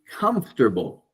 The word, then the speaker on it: comfortable: Moving on, comfortable. All right, people hate this word because, again, the spelling doesn't actually reflect the pronunciation.